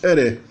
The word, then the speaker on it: re: Então, a palavra que é grafada re, que significa campo, é pronunciada geralmente ere.